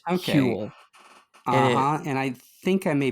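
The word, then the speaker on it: hwyl: But I think it's pronounced like Huel.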